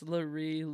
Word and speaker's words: LaRue: Yeah, he didn't say it correctly when he was on here. It's LaRue. LaRue.